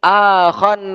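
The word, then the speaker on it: آخى: Kita baca di sini, akhan Nabiyyu sallallahu alaihi wasallam. Akha ini fiil ya, bukan bacanya akhi tapi akha, mempersaudarakan.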